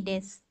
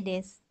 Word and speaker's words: desu: Watashi wa heni desu. Watashi wa sensei desu. Watashi wa hon o yomimasu. Nah, di situ untuk kata des dan mas itu tidak diucapkan desu atau masu, tetapi cukup diucapkan des mas.